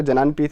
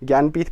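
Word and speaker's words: ज्ञानपीठ: टू गेट ज्ञानपथ award इसका जनान प्रीथ नहीं पढ़ते हैं ज्ञानपथ पढ़ते हैं इसको ऐसे स्पेल करते हैं हम ऐसे कुछ प्रोनाउंस करते हैं ज्ञानपथ अवर्ड किसको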